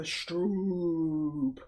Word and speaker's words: stroop: It's pronounced like soap. The double O and Strope. a stroke soup. waffle. Double O like soup.